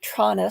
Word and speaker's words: Tronnes: of uh David tronis looks to me like Tron but they seem to be pronouncing it tronis so come on give